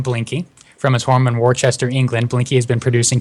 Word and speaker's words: Worcester: And it's pronounced Worcester.